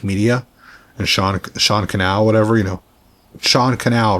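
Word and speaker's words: Sean Cannell: Like I think a lot of people who started have watched Think Media and Sean Canal, whatever, Sean Canal rhymes with channel.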